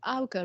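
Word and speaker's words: Augar: concerned about i think it was called the alga review have you heard of this i don't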